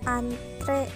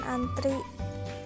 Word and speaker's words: antre: antri atlet dan Apotek seharusnya antre bukan antri kemudian atlet bukan atlet